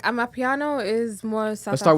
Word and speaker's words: amapiano: amapiano Mhm. Am I even pronouncing that correctly?